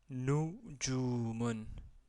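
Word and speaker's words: نجوم: la première position donc j'ai prononcé numon donc la premier son qu' vous entendez c'est nous marqué ici en rouge et la lettre euh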